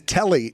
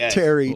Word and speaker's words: Telly: it is Cojack and his name is Telly Telly not Terry kind Pitbull Telly saal